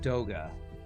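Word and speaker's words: Doge: Believe you're supposed to pronounce it Doga. D-O-G-E, supposed to be Doga, huh?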